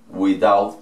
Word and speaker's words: without: She left without eating. She left without eating. Recuerden que esta T la pronunciamos como una R porque va en medio de dos vocales. En este caso la A y la I.